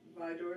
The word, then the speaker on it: ViDora: It is, correct me if I'm not pronouncing this right. Okay. ViDora? ViDora is correct.